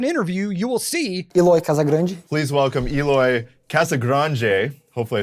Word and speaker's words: Casagrande: Spanish, it would be Casagrande. But in Brazil, they speak Portuguese, which is not Spanish. So if you look up an interview, you will see Eloy Casagrande.